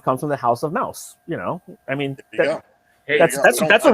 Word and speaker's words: Maus: guy so he says moss okay because he's got a lot of self-respect for me mouse just work actually mouse is the actual pronunciation of m-a-u-s so yeah that's why